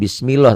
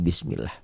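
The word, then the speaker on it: بِسْمِ اللَّهِ: Ini dibacanya nggak bunyi A, nggak bunyi O. Jangan bismillah tapi bismillah.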